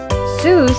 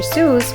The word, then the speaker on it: Seuss: make reading fun fact Zeus is supposed to rhyme with boys not goose the doctor never minded that people mispronounced it a creative kid Dr Seuss was born Theodore tetsu Geisel on March 2nd 1904.